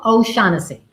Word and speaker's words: O'Shaughnessy: O'Shaughnessy.